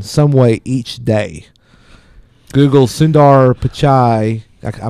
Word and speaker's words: Sundar Pichai: Google's Sundar Pichai, I mispronounced.